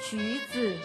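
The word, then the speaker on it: 橘子: itu kan pelafalannya cuzi. Apa? Cuzi. Oke. Ju itu kan nadanya naik.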